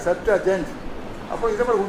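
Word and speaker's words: Septuagint: இப்போ செப்டுஜென்ட்னா நம்ம செப்டுஅஜென்ட் அப்புறம் உச்சரிக்கணும் இல்லையா, செப்டுஅஜென்ட்.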